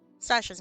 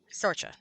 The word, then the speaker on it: Sorcha: Sasha's not 100%er type of protagonist, I think. All right. Sorcha, not Sasha. I'm not 100% certain that's how you pronounce Sorcha's name anyway, but that's okay.